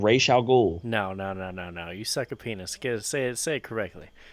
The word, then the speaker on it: Ra's al Ghul: It's Ra's al Ghul. It's not Raish. Okay. It's not Rash.